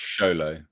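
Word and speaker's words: Xolo: heart into this film that's not what he said. It's Sholo. You need to say Sholo.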